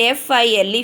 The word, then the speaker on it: file: We should not pronounce the second vowel. We can cross it in a notebook. Okay. And F-I-L-E, file.